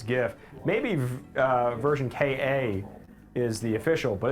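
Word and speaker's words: Ver.Ka: the version Ka sorry version Ka which I've I've learned is the the official pronunciation of ver dot k a really I feel like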